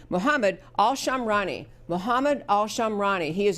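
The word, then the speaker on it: Muhammad Al-Shamrani: Muhammad Al- Shamrani.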